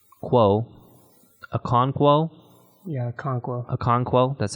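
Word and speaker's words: Okonkwo: and Oak one quo a conquo yeah conqueror a conquo that's how you say it had one catch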